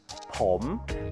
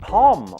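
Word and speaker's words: ผม: First, if you're a man, the most common way to say I is ผ ม This word has a rising tone. ผ ม not pom or pom. ผ ม If you're a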